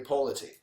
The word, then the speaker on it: Ippoliti: You said it right. Amy Polity. So, think pole.